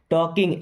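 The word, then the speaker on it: talking: means मुझे पसंद है टॉकिंग एल साइलेंट है टॉकिंग मींस बात करना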